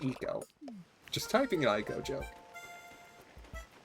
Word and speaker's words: Ico: It's pronounced Eco.